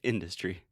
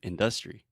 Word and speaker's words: industry: so he's saying industry so technically if you're changing the stress like in the word industrial we would put the stress on the uh but with the word industry we say industry and he's saying industry and it's just weird